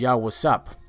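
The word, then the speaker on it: יוסף: in case you were wondering so Joseph is yah wasap now the word yasa yah is he and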